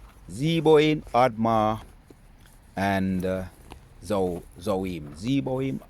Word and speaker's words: Zeboim: Let's go in and I remember the pronunciations of the Zebo, Admar, and Zo Zohoim. Zeboim, Admma, and Zohar.